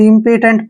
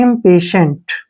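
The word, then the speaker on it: impatient: ना शुरुआत में अगर पढ़ते हैं आप तो इंपोटेंट पढ़ेंगे वो गलत है आईएम का उच्चारण इम के रूप में लिखेंगे ऐसे ठीक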